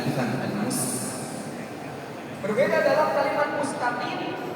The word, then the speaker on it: مستقيم: Berbeda dalam kalimat mustaqim, huruf sin di sana hendaknya dengan membuka gigi kita.